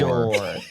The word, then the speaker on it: Bajor: Patrick, we've actually Bajor. decided it's going to be pronounced Bajor. Okay?